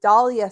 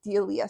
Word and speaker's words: Dahlia: I have I said it wrong in the podcast, but I have the Dahlia sweater by Lynette that I had started and haven't finished. I kept calling it the Delia sweater in that video.